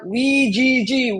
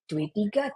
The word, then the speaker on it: WGG: Alright, perkenalkan nama aku Airin Umar, CEO WGG, bacanya WGG, Wigil Games ya. Jadi pada yang bingung itu bacanya gimana tuh? W3, W3 atau apa gitu kan. Ya jangan nanggung, Bo, langsung aja WGG.